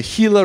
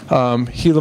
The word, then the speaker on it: Gila: And it's pronounced Gila as in the Gila River.